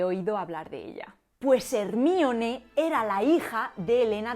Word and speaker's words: Hermione: una prostituta hermione granger si en españa decimos hermione sin embargo la pronunciación correcta debería ser hermione y diréis porque elena